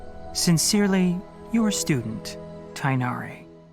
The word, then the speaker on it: Tighnari: sincerely your student tainari he says tainari i thought you guys keep telling me it's tignari where's the g the g tig nari people keep telling me it's technology boris say it like to ignari if if the even